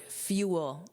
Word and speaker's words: fuel: Now let's look at this word fuel. Notice that pronunciation. There are two sounds.